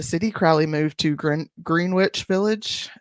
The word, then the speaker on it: Greenwich: Crowley moved to gr green witch Village is that Greenwich or green witch Gren witch I think it's Greenwich but it's spelled green witch right and began dating